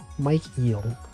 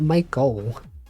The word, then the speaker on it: Michael: Mike Eel. Isn't it weird that Michael is pronounced like that? It looks like if someone unfamiliar with English might be like, it's Mike Eel, right?